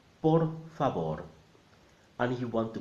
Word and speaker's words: por favor: And the V is a B. So together, por favor.